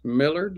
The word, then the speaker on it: Millard: Thanks, Millard. Like Willard.